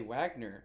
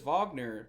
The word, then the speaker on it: Wagner: are the days yeah that's how I always remember how German W's are pronounced but I've heard announcers I've heard ESPN announcers say Wagner and so I was like well which is correct and I figured it was Vagner because again like it makes sense but